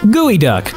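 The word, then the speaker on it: geoduck: Gooey duck. I will never get over that that's how you're supposed to pronounce that name with how it's spelt.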